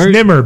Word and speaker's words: Nemr: So, Nemr, is that right? Dude, you can say it however you want. Nemr. It's Nemr, but go ahead. Rhymes with dimmer.